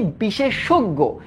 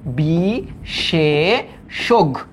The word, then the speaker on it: বিশেষজ্ঞ: তারপর এটার উচ্চারণ কি, বিশেষজ্ঞ, তোমার লিখতে হবে যে এটার উচ্চারণ বিশেষজ্ঞ, বিশেষজ্ঞ।